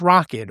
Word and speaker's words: Rokid: And it sounds like I'm saying rocket, like a spaceship, but it's rocket. R O K I D.